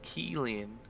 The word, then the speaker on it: Kealing: personal preference man see it's pronounced Keeling but spell Kealing okay okay cool Kealing